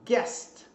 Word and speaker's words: guest: Em inglês, também o GUE, geralmente o U não é pronunciado. Então, por exemplo, a palavra guest, que é hóspede, né?